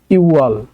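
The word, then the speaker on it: 유월: আছে কোনো বাচ্চিম নাই, এটাও যা আছে তাই উচ্চারণ হবে ইওয়াল।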